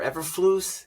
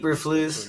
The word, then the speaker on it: Eberflus: Is it Eberflus or Everflus? How do you say his fucking name? Eberflus, I believe. Eberflus.